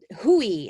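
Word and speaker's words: WHOI: in massachusetts it's with the hui is how you say the abbreviation of it woods hole oceanographic institute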